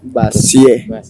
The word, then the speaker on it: Vazie: Vazie. Se escribe Vazie, pero suena Vazi, porque es de origen francés.